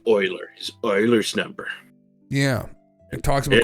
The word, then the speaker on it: Euler: Uer, you can't help it cuz I I thought it was Ulers. We We had a high school teacher that always called it Euler's number. Yeah. which is thinking back is a little shocking because I think I think the uh the teacher had a master's degree in math and I didn't know it was Oilers until a couple years ago and it's pronounced Oilers because it was a Swedish guy.